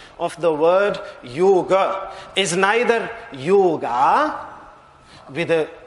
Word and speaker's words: yoga: they are speaking Hindi they will be pronouncing it as yoga with a short e at the end now the various meanings